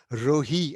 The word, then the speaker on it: Rohi: I've discovered, incidentally, that the name Roi also exists in Punjabi, and except that they pronounce it Rohi, and it means wilderness.